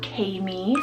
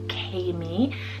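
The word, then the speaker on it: Kaemi: I have Kami, spelled K-A-E-M-I, Kami.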